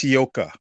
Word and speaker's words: Hioka: Hey, how do you say your name, bro? Legit question. It's Hioka.